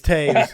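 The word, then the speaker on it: Toews: I'm going to say his name right because I met him at the lake, and even though it's spelt toes, it's Taves, and I'm actually going to say it right.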